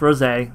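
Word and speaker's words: Rosé: Also, you know, we're going to see some Super Saiyan Ros. And yes, it's pronounced Ros.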